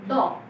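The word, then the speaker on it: dough: आटा फ्लर गीला आटा ड इसके प्रोनंसिएशन ड डी ओ यू जी एच ड मींस गीला आटा आटा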